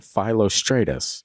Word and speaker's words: Philostratus: flavia's accounts and this is obviously my man philostratus God I hate that word so much cuz I just want to say lrus but that's not how it's pronounced it's like philostratus flavus philostratus a Greek writer of the 3r century ad